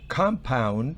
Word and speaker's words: compound: La primera es compound. Fíjese que la tilde fonética está en la primera sílaba.